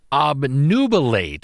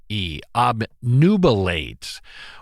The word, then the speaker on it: obnubilate: time on this week's Wordsmith word uh nuate obnubilate which is spelled o b n u b i l a t obnubilate which is a uh it's an interesting word